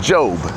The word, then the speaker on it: Job: Now, I pronounced it Job because that's the Hebrew pronunciation of it. The American pronunciation of it is Job.